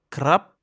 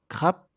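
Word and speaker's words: ครับ: Par exemple, le mot crap qui sert à être poli peut aussi se prononcer crap.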